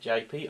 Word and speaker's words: Japy: I think you pronounce it Japy, I'm not 100% sure, it's spelled J-A-P-Y.